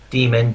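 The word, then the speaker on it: Daemon Tools: Demon, Damon, I've heard it in both ways.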